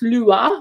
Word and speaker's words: Lua: was quite interesting is that the word is pronounced lua which is what i've been doing but it